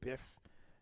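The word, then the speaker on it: B'EF: Or there's another company that's got B''EF, so you say biff.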